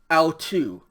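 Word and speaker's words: αὐτοῦ: mark then tau omicron upsilon this word is pronounced so together this says dia autu this phrase in english means by him all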